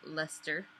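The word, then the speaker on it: Leicester: six lb of the Border Lester um which is how you pronounce it like Uncle Lester but go on yes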